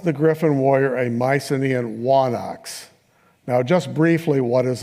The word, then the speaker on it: wanax: In Linear B, that word appears with a letter that went out of use by classical Greece called a digamma, and it's pronounced as a W, so wa and then onox is the idea.